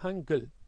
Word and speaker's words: Hangul: E aí a primeira sílaba é Han, a segunda é Gul, vira Hangul.